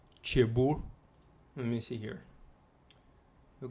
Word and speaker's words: Cherbourg: Yeah, I think the G is silent. Cherbourg.